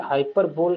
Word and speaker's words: hyperbole: तो हम यूज करेंगे हाइपरबोले। जैसे बोल, आप बोल सकते हैं, बट जो करेक्ट प्रोनाउंसिएशन है दैट इज हाइपरबोल।